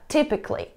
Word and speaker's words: typically: Как вы поняли, если у нас есть окончание C-A-L-L-Y, которое вы можете видеть здесь, мы не произносим звук A, мы не говорим Kelly. Так что да, typically, basically.